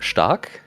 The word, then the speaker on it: Stark: Okay, so Stark would be pronounced Stark, and it's like Stark, means strong, you know?